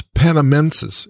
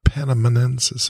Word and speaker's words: panamensis: i add something here it's panamensis it's not panaminensis it's panamensis everybody's writing panaminensis no no no it's panamensis it's spelled we actually